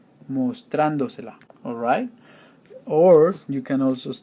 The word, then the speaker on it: mostrándosela: Because you are attaching 2 syllables to a 3-syllable word, you have to add an accent mark on the 4th one from the back to the front. So 1, 2, 3, 4, mostrándosela.